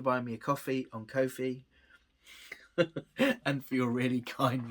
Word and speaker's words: Ko-fi: Ko-fi is a creator support page. It's a bit like Patreon. It's spelled Ko-fi. It's like coffee, but Ko-fi.